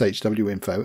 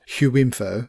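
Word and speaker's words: HWiNFO: info hw info and it is pronounced hw info and not hue info as far as i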